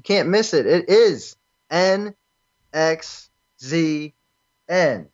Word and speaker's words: NXZN: miss it it is an X Z and that's how you spell it that's how it's pronounced like it doesn't get any simpler than that online over the past